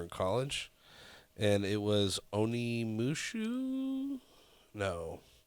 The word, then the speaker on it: Onimusha: And it was Onimusha? No. It's Onimusha.